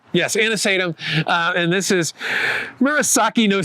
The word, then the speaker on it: anisatum: Yes, anisatum.